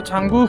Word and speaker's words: Tsomgo: है छांगू लेक, और छांगू लेक ही बोलते हैं। ऑल्दो इसका अगर आप स्पेलिंग देखेंगे तो कम्प्लीटली अलग है।